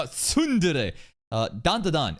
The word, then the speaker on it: tsundere: Sundir. Sundir, bro. No, tsundere.